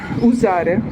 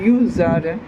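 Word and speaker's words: usare: Я не вимовляю правильно, я вимовляю Юзаре. І-за чого? І-за того, що від слова е юз, італійське слово юз те ж саме використовувати.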